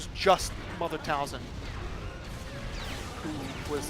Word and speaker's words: Talzin: T A L Z I N.